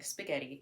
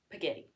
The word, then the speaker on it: spaghetti: it so for example a common mistake kids make in pronouncing spaghetti is pagetti so let's say my